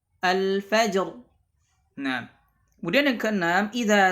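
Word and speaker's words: الفجر: ini dalam keadaan waqaf, maka ra-nya juga dibaca tebal. Contohnya adalah al-fajr, al-fajr.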